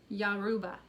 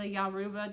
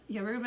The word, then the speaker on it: Yoruba: a god under the i wrote down the pronoun yaruba the yaruba tribe um not the yoruba is a religion in